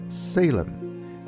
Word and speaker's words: Shalem: in the prime rule form Shalem and we pronounce it as Salem here are what the